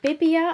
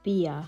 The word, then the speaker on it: BBIA: multiple shades of the bibia I think it's high pronounce it or bbia I have been corrected that this is pronounced beer Auto gel eyeliners they